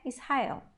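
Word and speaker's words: ישראל: Israel também é uma palavra nova no nosso vocabulário, que é Israel. Em hebraico, Israel. A gente tem que pronunciar o lamed, lembrem-se disso.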